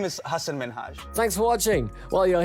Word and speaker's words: Minhaj: She kept pronouncing Minhaj as Minaj, and in all honesty, no one wants to hear their name pronounced wrong.